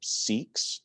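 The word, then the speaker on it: SIC-POVM: of a mouthful so they just call them seeks they say that they pronounce that seek not sick seek can you believe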